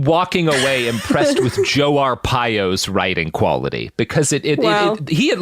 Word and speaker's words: Arpaio: Joe Arpaio.